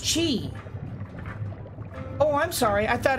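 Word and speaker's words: Qi: do not have enough shoot he's name is pronounced with the chinese oh so it's chi oh i'm sorry i thought it was uh the hard the hard q like key so it's chi okay thank you i appreciate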